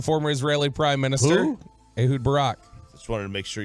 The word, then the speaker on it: Ehud Barak: Ehud Barak. Just wanted to make sure you pronounce that right.